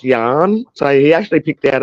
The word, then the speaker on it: Jan: called his son Jan j a n but because he's a stupid redneck idiot it's actually it was actually cuz me dad's name's John and so it's actually meant to be pronounced Yan so he actually picked